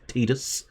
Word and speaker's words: Tidus: will possibly know that the correct pronunciation quote-unquote correct pronunciation is tidus but i don't like that pronunciation and i am stubborn every now and again so i call him titus uh because i think